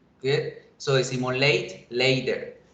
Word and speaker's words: latte: Si yo la leo en español, latte tiene dos sílabas, pero en inglés la pronunciación es late, late, late. Tiene una sola, late.